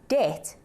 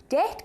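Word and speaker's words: debt: when we say it Det Det comes from the Latin word Debbie tongue which is why it has a B in even if you don't say it ' this is a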